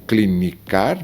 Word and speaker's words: clinica: A mesma com clínica, que seria o verbo clinicar, você diz clinica. Ela clinica, ele clinica.